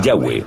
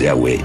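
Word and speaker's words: Yahvé: son y hw h y pensamos que probablemente se pronunciaba el yagüe o algo así pero ya ve solo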